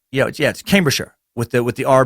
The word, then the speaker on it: Cambridgeshire: a shire in it it isn't pronounced like the shire in The Hobbit it's mostly contracted to be a short sure with a falling are so Cambridgeshire is pronounced yes yes Cambridgeshire with it with the